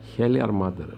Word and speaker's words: Heljarmadr: hell if you will yeah how is it pronounced helar mother helar mother oh difficult things yeah well it's a it's